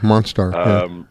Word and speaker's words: Monstar: He has on Facebook, it's called The Bridge Monster, and it's spelled STAR at the end. Like Star. Oh, Monstar.